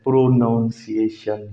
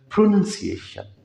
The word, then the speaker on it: pronunciation: जो हमारे सामने है, PRONUNCIATION, प्रोनंसिएशन, अमूमी तौर पे इसका तलफ़ुज़ भी गलत बोला जाता है, प्रोनाउंसिएशन या इस तरह का कुछ करके ना। तो ये प्रोनाउंसिएशन नहीं है, दिस इज़ कॉल्ड प्रोनंसिएशन।